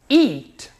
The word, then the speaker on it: eat: nós pronunciamos e aqui nós pronunciamos eat um som verdadeiro do I eat verbo comer OK